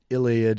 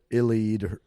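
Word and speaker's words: Eliud: wow so today the records uh kipchoge i'm not sure to pronounce really his first or last name his first name is like iliad or illead it's e-l-u-u-i-d his last name's kipchoge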